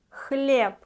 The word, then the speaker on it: Хлеб: Хлеб. B we pronounce like P at the end. Хлеб.